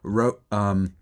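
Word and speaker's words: Roch: And by the way, Rock Kubatsko's first name is pronounced Rock. So I said Roach, I think, in the last one. It is Rock.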